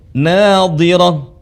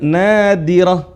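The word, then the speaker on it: ناضرة: Nadhirah, bukan nadirah, bukan kayak huruf dal.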